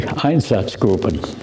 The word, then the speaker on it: Einsatzgruppen: And these were reports from the Eastern Front by special squads known, when it's pronounced correctly, Einsatzgruppen.